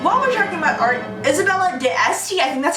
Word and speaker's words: Isabella d'Este: himself in then while I'm talking about art Isabella d'Este yeah that's how you pronounce it who is super famous and she